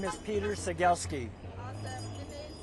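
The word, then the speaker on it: Cegielski: My name is Peter Seagielski. Awesome. And then spell it for me.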